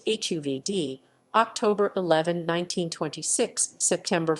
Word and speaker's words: Hovde: Carl Frederick Hovde, pronounced HUV-dee, October 11, 1926, September